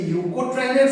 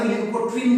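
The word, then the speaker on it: leukotriene: তাহলে আমাদের কাছে ক্লিয়ার হলো যে কেন এটাকে আমরা লিউকোট্রাইন বলবো। কেন লিউকোট্রিন বলবো না? লিউকোট্রাইন একসাথে লিউকোট্রাইন।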